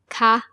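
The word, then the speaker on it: คะ: The polite partic for female speakers ca with a high tone is used when you ask a question.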